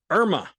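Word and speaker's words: IRMAA: with the second hidden tax which is called Irma that is spelled IR M AA then you will wind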